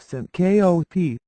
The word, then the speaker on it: syncope: is referred to as Syncopy or in non-medical quarters fainting Syncopy accounts for one in every 30 visits to an emergency room it is pronounced Sy Koop Syncopy is due to